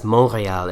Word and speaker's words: Montréal: Heading out to the French side of Canada, we have Montreal, actually pronounced as Montréal in French.